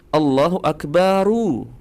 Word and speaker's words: Allahu Akbaru: Jadi harakat huruf ro teman-teman di huruf terakhir adalah domah, berbaris domah.